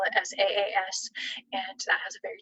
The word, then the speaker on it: SaaS: They spell it SAAS, and that has a very different meaning than how I hear it, which is SaaS, like I'm giving somebody a little bit of sass or using some sarcasm,